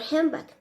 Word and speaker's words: handbag: manner for example the most English native speakers do not pronounce the d in the word handbag another example that we